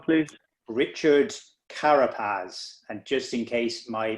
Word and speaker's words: Carapaz: in cycling you repeat his name please richard karapaz and just in case my pronunciation is off c-a-r-a-p-a-z richard carapaz he sounds